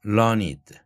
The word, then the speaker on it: learned: learning이라는 학식의 형용사형 learned. 이때에는 learned 하지 말고 learned 이렇게 발음합니다. 그냥 learned라고 발음하면 그것은 learn이라는 동사의 과거분사로 사용될 때의 발음입니다.